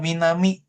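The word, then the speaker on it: 南: Selatan itu dibacanya Minami. Nah, Minami. Minami.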